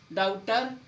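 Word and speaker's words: doubter: बी के बाद टी आएगा तो आपका बी साइलेंट होगा। डेटर, डाउटर, शटल, देखो बी है और बी के बाद क्या हुआ है टी तो बी साइलेंट।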